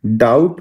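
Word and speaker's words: doubt: डाउट में B silent है। डाउट में कहीं भी बी का प्रोनंसिएशन नहीं आता है।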